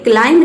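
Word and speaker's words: climb: है वह साइलेंट है, यानी कि बी का उच्चारण हम नहीं कर रहे हैं। अगला है क्लाइंब, ये क्लाइंब नहीं होता है, ये होता है क्लाइंब।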